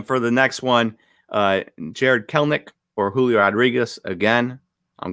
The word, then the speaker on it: Kelenic: corrected me to Kelenic, and it turns out the E is silent in the middle. It's just Kelenic.